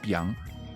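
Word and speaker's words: 𰻞: It is pronounced biang.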